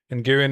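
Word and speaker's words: Nguyen: Nguen is pronounced like win. Sometimes, yes. It depends where they're from. It has two pronunciations.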